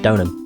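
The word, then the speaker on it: Deauxnim: Because that was a name I never knew how to pronounce up until I saw the anime, and they've just pronounced it Donham. And I felt like such an idiot for not realising it should have just been called Donham.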